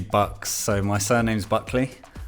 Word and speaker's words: 13uxz: Also goes by the name of 13 UXZ. Am I saying it right? Uh almost. It's actually Bucks.